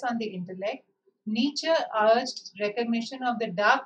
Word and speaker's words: Nietzsche: It is pronounced Nietzsche. Nietzsche.